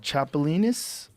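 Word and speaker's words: chapulín: you cook it up they call it uh chapolin that's how you say it I would do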